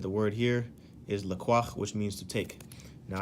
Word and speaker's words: לקח: Hebrew word Lacroix okay so it's pronounced la qua all right and in